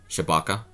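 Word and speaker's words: Tshibaka: the incumbent Lisa Murkowski by Shabaka. And yeah, that's how you say her name.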